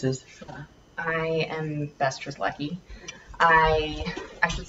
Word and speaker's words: Strzelecki: I am Bess Strzelecki. I should say Strzelecki, because that's the proper way to pronounce it, I hear.